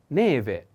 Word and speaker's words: neve: announce the first is neve put attention on the accent e the first e neve is a female noun and never means snow pay attention to this pronunciation v is like venezia venice v maybe we can find